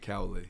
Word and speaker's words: Cowley: and it's pronounced Cowley? Cowley, yeah.